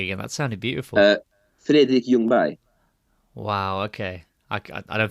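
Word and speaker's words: Freddie Ljungberg: else since could you give us that correct pronunciation of Freddy youngberg again that sounded beautiful uh fi Yung B wow okay I I don't think I'm gonna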